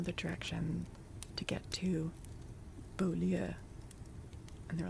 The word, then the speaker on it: Beaulieu: It's obviously Beaulieu, which means beautiful place. It just translates as, like, beautiful place, but they pronounce it Bewley.